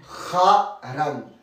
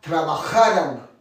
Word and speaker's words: trabajarán: Trabajarán. La gorge et la langue. Trabajarán.